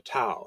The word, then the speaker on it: Dao: It's how the word is usually pronounced in modern Mandarin Chinese. So what is the Dao?